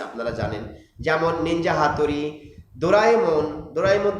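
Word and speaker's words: ドラえもん: ডোরাএমন, আমরা ভুল করে অনেক সময় বাচ্চারা বলে ডোরেমন। ডোরেমন আসলে মূল উচ্চারণ হচ্ছে ডোরাএমন, জাপানিজ ডোরাএমন। পকেট থেকে অনেক কিছু বের করে, আপনারা জানেন ডোরাএমন, সবাই জানে, সবাই ডোরাএমন দেখে।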